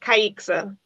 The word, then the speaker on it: Kiexiza: is fine but it's pronounced kaiksa yeah okay oh okay